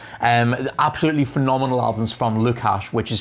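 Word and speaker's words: Lukhash: the synthwave bracket and absolutely phenomenal albums from lukash which is spelled l-u-k-h-a-s-h weird name but they're brilliant uh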